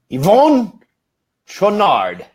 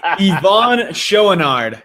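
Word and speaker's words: Yvon Chouinard: do you pronounce that Yvonne Renard that was actually pretty close - an accent but Yvonne show a nard is how at least pretty dang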